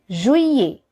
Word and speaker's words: juillet: Juillet. Juillet. Here we neither pronounce L nor T.